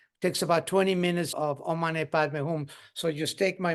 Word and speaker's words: Om Mani Padme Hum: It's known as a 6-syllable mantra, and is the Om Mani Padme Hum. So it's Om Mani Padme Hum.